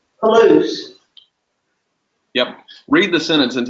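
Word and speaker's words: πολλούς: Palouse. Polus.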